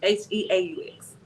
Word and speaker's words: Heaux: How you pronounce Heaux? Ho. H-U-X? Heaux. H-E-A-U-X. Yeah.